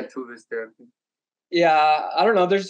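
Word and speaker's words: Tove Styrke: There's like we always say her name wrong. Is it Tuve Stirke? Yeah, Tuve Stirke.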